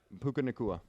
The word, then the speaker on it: Puka Nacua: Tutu Atwell and Puka, I think I said his name wrong, Nakua? Yeah, Puka Nacua. Puka Nakua, 10 receptions, 6 receptions.